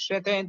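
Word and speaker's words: ث: সাবরে সাজিরে সাফি সু জিহ্বার আগা সামনের উপরে দুই দাঁতের আগার সঙ্গে লাগিয়ে সা অক্ষরের উচ্চারণ খুব সুন্দর করে নরম করে উচ্চারণ করতে হবে সা জবর সা জবর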